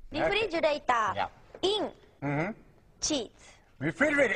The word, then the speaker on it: refrigerator: sound correctly, your tongue, the tip of your tongue, cannot touch the top of the roof of your mouth. If you feel it touch, it's wrong. So, it's just sitting there in the middle, kind of curled back, not touching anything. Re, instead of uri, which is flicking outward and touching, so it shouldn't touch.